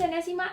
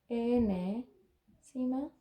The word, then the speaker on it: enésima: Enésima de c. Ahora, enésima se escribe de esta forma. N-ésima, ¿sí? Y tiene un acento en la E.